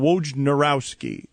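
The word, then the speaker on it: Wojnarowski: Adrien Wj Nurowski is the way that you pronounce it.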